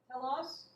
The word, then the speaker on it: telos: So let's look up the word, and I'm going to spell it for you in Greek. You ready? T-E-L-O-S.